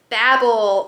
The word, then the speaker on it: Babel: Next is Babel, or as some say, Babel, by R.F.